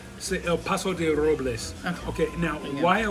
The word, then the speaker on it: El Paso de Robles: I'm not saying it right. El Paso de Robles.